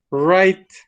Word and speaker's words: write: Despite the verb is reading with W at the beginning, that W is not going to sound.